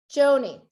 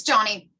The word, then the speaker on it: Joni: Joni, am I saying it right? Close, it's Johnny.